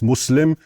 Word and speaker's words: Muslim: It's not Islam, it's Islam and it's not Musl it's not Muslim, it's Muslim and the two words are connected, right?